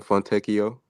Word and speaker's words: Fontecchio: You said what's in the how you pronounce the name again, Cole? Simone Fontecchio.